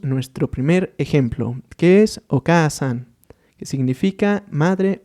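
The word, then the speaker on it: お母さん: Y al final tendríamos Oka-san, haciendo ese énfasis en la letra A.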